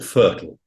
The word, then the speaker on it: FRTOL: getting a a license the radio license or fertile as we pronounce this to make it easy